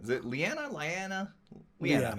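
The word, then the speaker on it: Lyanna: Liana.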